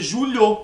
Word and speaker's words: Júlio: o tom de I que tem no meio julo se fosse com h não ia ter tom de i e não ia ter essa pausa ia ser direto ia ser Julio ai mas você pronuncia